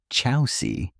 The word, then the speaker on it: Chausie: The Chausie, pronounced Chausie, is a breed with roots that stretch back thousands of years.